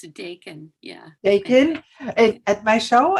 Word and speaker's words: Dakin: How is it pronounced? Thanks for asking. It's Dakin.